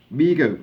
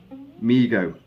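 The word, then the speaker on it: Mego: odd people demanded it amigo pronounced migo because you may have struggled with that that word amigo um migo corp was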